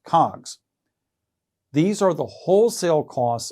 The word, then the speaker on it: COGS: is often abbreviated using the acronym Coggs pronounced cogs these are the wholesale